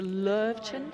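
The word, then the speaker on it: Löwchen: Now, you have to tell me the correct pronunciation. Is it the Lurvchen? I usually say it that way, yes.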